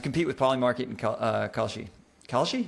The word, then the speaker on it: Kalshi: Kalshi?